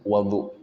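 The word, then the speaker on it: وَضوء: Tapi kalau air wudu dalam bahasa Arab disebut wadu. Wya berfathah.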